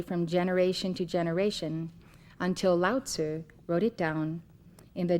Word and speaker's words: Lao Tzu: Many of you have commonly heard his name pronounced loudsu, but it is correctly said loud and it is spelled l a o tzu. Lzer. Would you like to say that with me? Loud sir.